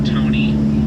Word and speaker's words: Tony: But if you didn't, well, my name has been Tony, rhymes with bologna, also the lunch meat.